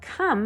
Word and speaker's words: come: the word come now come has a silent e at the end and it has four letters and it has two vowels the oh and E but like I said we don't really hear the e at the end and